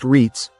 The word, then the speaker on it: REITs: Institutional investors, private equity funds, REITs, pronounced REITs, hedge-backed landlords, buy entire communities.